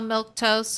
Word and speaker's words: milquetoast: gosh that's spelled crazy how was that pronounced how do you say that word is it just red like a milk toast and yes yes it is that's all it took